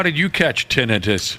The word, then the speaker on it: tinnitus: But the thought is that tinnitus is basically a part of your hearing spectrum.